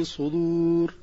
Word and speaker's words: الصدور: 19 من سوره غافر حيث نطقها بقلب الصاد الى سين والدار الى طاء او تاء او تاء او تاء والصحيح ان الكلمه في الايه الكريمه بالصاد وبنطق الدار صريحه يعلم خائنه الاعين وما